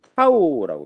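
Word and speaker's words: τ: 전단응력은 여러분 타우라고 표시합니다. 이게 타우야, 타우. 타우라고 읽어요. 타우. 그리스 문자죠. 타우라고 읽고.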